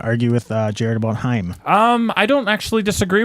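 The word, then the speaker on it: Haim: decide if i like heim that's correct pronunciation rhymes with rhyme you know it's like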